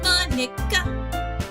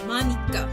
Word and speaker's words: Monika: Monica, that's not how you say my name at all. Also, oh, Monica. Also, Monika. There we go.